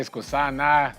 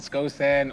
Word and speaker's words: Skosan: People say Skosana, Skosan, Skosan, all of this funny stuff. I mean, I always have to take it off the list when I get a tracker for my car. People will pronounce it. I'm speaking to Mr. Skosana because they think I took something away. So it's Skosan.